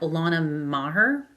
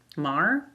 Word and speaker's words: Maher: I think I'm pronounc Maher Maher. She has the same name as Bill Maher.